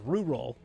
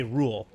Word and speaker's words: rural: Rural, I can't pronounce because it's pronounced rural, but I always say rule.